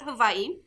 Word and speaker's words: Hawaii: The mountain on the island of Hawaii, that's how you pronounce it, Hawaii, is the tallest mountain in the world.